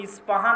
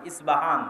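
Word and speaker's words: اصفهان: আমরা প উচ্চারণ করি ইস্পাহান আরবিতে এটা উচ্চারণ হয় না আরবিতে হয় আল আসবাহানি বা উচ্চারণ হয় ইসবাহান বা আসবাহানি সেখান থেকে 70 হাজার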